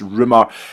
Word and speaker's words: Armar: His fantastic architecture company, which Armar Architecture, it's pronounced Rumour.